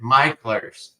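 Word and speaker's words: Mickler's: Micklers. Right. Okay. Micklers. It's like I should just remember it's the opposite of how it looks.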